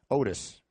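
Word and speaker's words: Octis: I was covering them he spelled his name o c TI s and we asked him how do you pronounce that and he said Otis so there was a silent C okay in his name well I mean can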